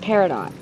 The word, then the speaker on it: peridot: that's going to take copper ore and rough peridot Peridot yeah that's how you say it so